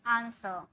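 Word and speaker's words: answer: यहाँ भी र का एकदम साउंड नहीं होता है, सिर्फ हम बोलते हैं आंसर, आंसर। ठीक है, डब्ल्यू का भी यहाँ पर साउंड नहीं होता है, आंसर।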